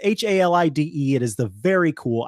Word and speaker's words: Halide: I don't know if it's Halid or Halid, or I mean, it could be anything. No, it is Halide.